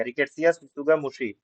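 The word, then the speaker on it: Rickettsia tsutsugamushi: ये टी जो है ये साइलेंट दोनों जगह पे रहेगा, रिकेट्सिया सुत्सुगा मुशी।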